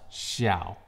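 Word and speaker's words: 晓: Secret number one, of course, DJI Spark has a Chinese name since it's designed and made in China, and it is pronounced Xiao.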